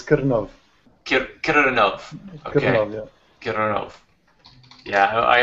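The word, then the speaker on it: Krnov: and he is broadcasting out of, if I pronounce it right, Keronov. Out of the Czech Republic. Hi, everyone. Great. Yeah, did I pronounce that right? It's a painful one, but it's Kirnov.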